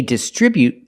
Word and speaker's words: distribute: distribution center example they distribute their products from the Distribution Center we see both words they distribute their products with a stress on the second syllable distribute they distribute their products from